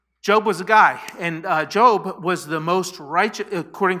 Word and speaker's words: Job: It's Job. Job was a guy, and Job was the most righteous, according to the Bible, the story.